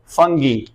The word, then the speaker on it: fungi: pronunciation को देखें तो ये बेसिकली फंजा नहीं है इसको प्रोनाउंस किया जाता है फंगी या इसको क्या कहते हैं फंगी ये बेसिकली प्रोनंसिएशन